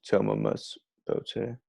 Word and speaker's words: Thomomys bottae: A lot of people will pronounce it thom Thomomys or Thomomys, but it's Thomomys Bottae.